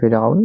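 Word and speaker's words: فرعون: বার তারপরে দেখবো আমরা ফেরাউন শব্দটি হচ্ছে ফেরাউন উচ্চারণ হচ্ছে ফেরাউন অর্থ হচ্ছে ফেরাউন এই শব্দটি করার মধ্যে এসেছে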